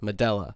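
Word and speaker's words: Medúlla: But today, we're going to be checking out her 2004 LP, Medulla, or perhaps it's pronounced Medulla. However, from what I gather, it is Medulla.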